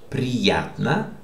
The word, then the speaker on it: Приятно: How do you pronounce this? This is stressed. Приятно познакомиться.